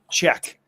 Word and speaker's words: Czech: Just like the country. Yeah, it's a Czech.